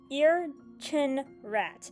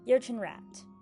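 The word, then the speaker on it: Ircinrraq: Cuz y'all are either werewolves or y'all just some freaky Uh next cryptid is the Ear-chin-rat. And yes, that's how it's pronounced. Ear-chin-rat.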